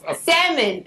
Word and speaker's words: salmon: the can now and it don't pronounce the L it's not salmon Sal salmon salmon Is that real salmon